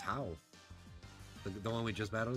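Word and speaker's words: Hau: I want to say it's How. The one we just battled against? H-A-U. However you pronounce that. H, literally, no pun intended, but How. That's how I would pronounce it.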